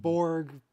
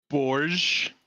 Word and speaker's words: Borg: the text to speech Just pronounced Borg as bourge yes yeah sounds uh